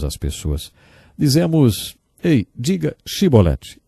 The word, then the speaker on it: chibolete: regiões do nosso país eles não conseguiam pronunciar o som CH e por isso diziam sibolete ao invés de chibolete jeft degolou 42.000 homens